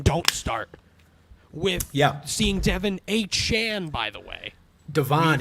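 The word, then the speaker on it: Achane: called like Raheem Don't Start, with seeing Devin A. Chan, by the way. Devon A. Chan.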